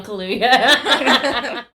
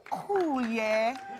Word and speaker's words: Kaluuya: He's trying to pronounce Daniel Kaluuya. For performance by an actor in a leading role, Daniel Kaluuya.